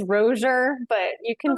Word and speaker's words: Rossier: You're saying it more beautifully than it actually is pronounced. It's Rozier, but you can say Rossier.